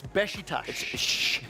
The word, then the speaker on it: Beşiktaş: How do you pronounce the S that has a tail on it? It's Beşiktaş. Yeah, it's a tail. It's a Turkish Beşiktaş.